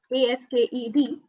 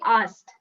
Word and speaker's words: asked: ASKED. So, the pronunciation is so the first of all, the K is silent when you pronounce it. Okay. Okay. Okay. Silent. Okay. Yes. So, it's simply asked.